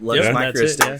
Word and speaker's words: Luxe Micro: Is it Lux Micro? Yep. Lux Micro.